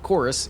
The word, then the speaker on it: Chorvs: Despite the odd spelling of the title, Chorvs is pronounced the way you would normally say it.